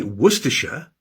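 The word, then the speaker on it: Worcestershire: But why do we say Worersha but write Warsshire H.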